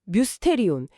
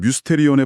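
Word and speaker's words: μυστήριον: 오 뮤스테리온. 발음이 약간 미스테리랑 비슷한데요.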